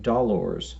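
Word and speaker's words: dolors: they those are called dollars now he Don's is spelled HED ons and dollars is spelled DOL ors and you can just hear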